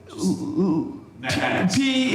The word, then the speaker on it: pi: maybe um so P if you want. Yeah, you're used to saying pi. Either way is fine to pronounce the letter.